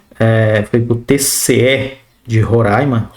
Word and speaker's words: Roraima: Horaima é Roraima. Se tem alguém de Horaima, Horaima, assistindo esse vídeo, gente, coloca aí como é que se pronuncia. Acho que é Horaima. Acho que é Horaima, não é Roraima.